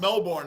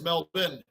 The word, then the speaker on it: Melbourne: Florida but I think in Florida it's pronounced Melbourne right that's what I was saying and now it's correct and in Australia it's Mel bin Brunson Overton RJ RJ